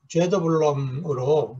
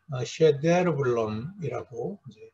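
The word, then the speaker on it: Söderblom: 우리가 이제 일반적으로 죄더블럼으로 많은 책에서 번역이 되는데 이분의 이제 원래 이름, 스웨덴식의 이름은 셰데르블럼이라고 읽는 것이 좋겠습니다.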